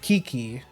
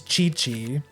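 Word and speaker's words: Qiqi: But no, it's it it's it's it's Chi-Chi, you know, like like uh Goku's wife from DBZ.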